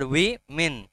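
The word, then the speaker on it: women: বলে শুনো ভালো করে ওমেন বলে না উইমেন বলে উইমেন নট ওমেন নট ওম্যান ইটসম্যান ওম্যান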